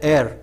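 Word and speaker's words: heir: होता है आपका वापिस इसको इंग्लिश बोलते हैं हेयर हेयर इसमें ऐड साइलेंट होता है तो यह दो आपका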